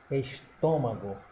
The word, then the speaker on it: estômago: Vamos separar lá estômago. A exemplo de máquina, ela já está acentuada, então a sílaba tônica é essa aqui que recebe o acento. Observe que ela não é oxítona nem paroxítona, ela é proparoxítona. Proparoxítona, estômago.